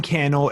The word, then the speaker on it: Cannell: love to connect Cannell everywhere on social Sen John and last name candle rhymes with YouTube channel spelled CA n n